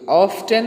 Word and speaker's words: often: Okay, ऑफ्टन है, ये ऑफन भी, यानी इसके दो प्रोनाउंसिएशन है. इसको हम ऑफ्टन भी कह सकते हैं और ऑफन भी कह सकते हैं.